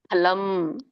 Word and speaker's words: ಫಲಂ: ಫಲಂ ಅಲ್ಲ, ಫಲಂ, 2 ತುಟಿಗಳು ಹತ್ಬೇಕು.